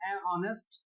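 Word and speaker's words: honest: ऐसे ही friends ऑनेस्ट, ऑनेस्ट में ऑनेस्ट, इसमें एच क्या है? साइलेंट है।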